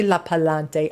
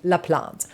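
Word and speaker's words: LaPlante: There is Spirit Box with Miss Courtney Laant, which for some reason I always want to say her name is Courtney La Palante. I don't know why I want to call her La Palante. She is a queen and she deserves for me to say her name correctly. La plant.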